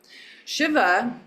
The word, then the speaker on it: Shiva: Shiva is a short I.